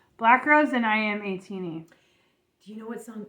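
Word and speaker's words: ATINY: A-teeny. A-teeny. Who says A-tiny? It's spelled A-tiny.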